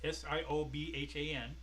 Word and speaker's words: Siobhan: Of course, it's Irish, so it's spelled different. It's Siobhan. Okay.